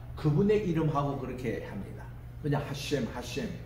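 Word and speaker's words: השם: 하셴, 그분의 이름이라고 얘기합니다. 하셴. 우리 따라합시다. 하셴. 하셴. 이렇게 이제 발음하거든요.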